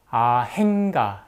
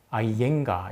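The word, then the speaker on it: Iyengar: 선생의 이름조차 받고 나왔습니다 아 행가 이렇게 적어 놨죠 그래서 잘 모르는 분들이 추측하기에는 아 스펠링에 h가 들어가나 보다 이렇게 생각하실 수도 있는데 스펠링은 iyen gar입니다 그래서 아 얜가 이렇게 인도에서 발음합니다 그런데 2010년대가 돼서 많은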